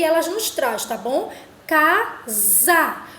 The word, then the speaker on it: casa: nos traz tá bom casa observe que esses a ele tem um som do z a e não do hsa vamos agora para a